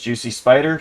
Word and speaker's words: JuicySpydr: That's JuicySpydr, spelled like Spy Doctor. Gaming. Only on TikTok and YouTube. Never seen it be compared to Spy Doctor, but I can see that. It's Juicy spelled common, and then SPYDR.